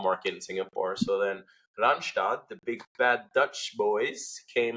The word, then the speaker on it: Randstad: see the commercials, and in my head it's Randstad, right? But I know actually they're pronounced Randstadt. But for me, Randstad. Randstadt is so wrong. It's Randstad because that's the way I got to know them.